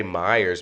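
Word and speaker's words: Miyares: gentleman this gentleman jason i say myers man i'm gonna americanize the heck out of that last name it's spelled m-i-y-a-r-e-s and i you know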